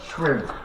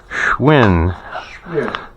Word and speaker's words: Schwinn: Schwinn. Schwinn.